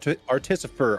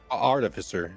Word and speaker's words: artificer: Artificer. Art artisifer. Art. How do you say that word? Artificer. Artificer.